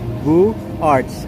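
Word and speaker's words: Beaux-Arts: I just cannot pronounce the style of architecture, but that is Beaux Art, B-E-A-U-X, Beaux Arts architecture.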